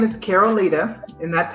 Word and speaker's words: Caroleta: So my name is Caroleta, and that's how it's pronounced.